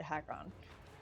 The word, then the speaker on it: Hakkon: aan or jaws of haakon it doesn't to me it just sounds weird to call it hack on it just like I don't know just doesn't seem like that is how it should be pronounced but apparently it is how did your stream